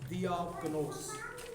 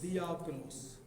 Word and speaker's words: diakonos: और खिदमत के लिए जो यूनानी लफ्ज़ है वो भी नोट कर लें, वो है दियाकनोस। क्या लफ्ज़ है, दियाकनोस।